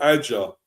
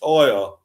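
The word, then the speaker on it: Ajer: his name is not Adja. As I've heard commentators saying lately, Adja. No, it is not Adja. It's Aya. That you do not pronounce the J. It's silent.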